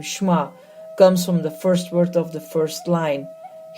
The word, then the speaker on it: Shema: He could certainly have joined in as they said the Shema, pronounced Shema.